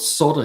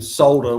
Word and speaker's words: solder: Yeah, they love to call it solder here, but it's always been solder with an L, as Tavo says.